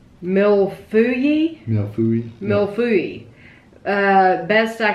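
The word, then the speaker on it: mille-feuille: It is pronounced mil fui.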